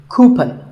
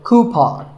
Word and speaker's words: coupon: A common incorrect pronunciation is coupon, but the second syllable should be pawn, so coupon.